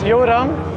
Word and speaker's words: Joran: What's the correct pronunciation? It's my name is Joran.